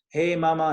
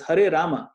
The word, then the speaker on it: Hari Rama: what do you charge hey mama hey mama mama mama hey hey what is this hey mama no no it's Hari Rama so we find all